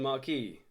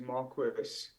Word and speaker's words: Marquis: Marquis welcome to the wild dispatch Marquee welcome to the wild dispatch but actually I